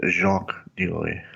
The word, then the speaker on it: Jacques de Molay: That's Jacques de Molay. Yeah, Jacques de Molay. The order's grandmaster reportedly is not like they might pronounce it in Louisville.